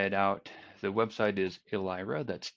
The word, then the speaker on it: Elyra: IRA or try it out the website is alehrer that's e ly RA dot read the docs